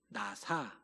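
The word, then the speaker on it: נָסָה: 단어가 나오는데 자막을 보시면 히브리어로 나사 라고 읽는 단어입니다 나사 시험이라는 단어인데요 이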